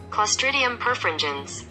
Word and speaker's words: Clostridium perfringens: is a very difficult word for me to pronounce we're gonna go ahead and go with google clostridium perfringens clostridium perfringens clostridium perfringens clostridium perfringens that sounds